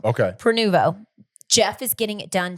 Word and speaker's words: Prenuvo: I went and had Preveno. Mm-hmm. I went and had Prenuvo. I always say it wrong. Okay. Prenuvo.